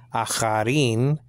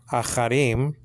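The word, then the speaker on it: אחרים: That's a aleph with an A class, like in the word hat. So that's a. The silent, the aleph is silent. The chet is there, ch, what? With a hatef patach. So that is acha, and then you have the R in Hebrew, resh.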